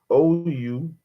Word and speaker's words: unctuousness: I mean, I might have to look up the pronunciation. Something. UNCTUOUSNESS.